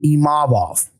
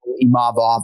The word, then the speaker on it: Imavov: So it's really just about emphasizing that second syllable, Imavov, and not Imavov.